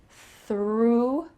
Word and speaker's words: through: The sound of this word is exactly the same as she threw a ball. This is through with a different spelling and a different meaning, but the same pronunciation.